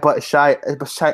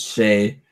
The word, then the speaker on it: Shea: But Shy. Oh God. Shy. I'm gonna call him Shy. It's Shea. I'm gonna call him Shy. Don't you dare. I'm gonna call him Shy. Don't mispronounce my son's name.